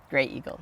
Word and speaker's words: Graeagle: Grey Eagle. Yeah. Gray Eagle. Even though it's spelled G R A Eagle.